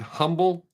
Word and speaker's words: humble: correctly pronounce the word humble and people act like they don't know what I'm talking about they don't know that the H is silent see I didn't know